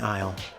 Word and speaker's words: Aisle: That's the Gnarly Wrestling Aisle. All 3 words starting with a silent letter there, just to be silly.